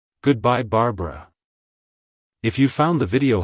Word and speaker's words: Barbara: wild it's pronounced as Barbara Barbara Barbara to pronounce it correctly emphasize the second syllable bar and use a short uh sound at the end avoid pronouncing the e